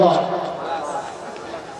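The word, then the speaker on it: flask: ফ্লাস্ক কি নিছে ফ্লাস্ক ফ্লাস্ক flux না কি শব্দ ফ্লাস্ক আমাদের প্রচলিত অনেক ভুল আছে এই একটা খুইজ্জা খুইজ্জা বাইর করি আমরা উচ্চারণে ভুল প্রচলিত ভুল প্রায় সবাই দেখবেন বলে ফ্লাক্স শব্দ কি ফ্লাস্ক কারেন্টে কি করে ধরে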